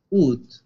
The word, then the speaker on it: août: ¿Cómo se pronunciaba agosto? Siempre se me olvida. ¿Cómo? Ut.